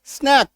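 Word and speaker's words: snake: एन ए सी के स्नैक एस एन ए के ई स्नेक ये देखो स्नैक और स्नेक दो अलग-अलग उच्चारण है जब डबल एकार आप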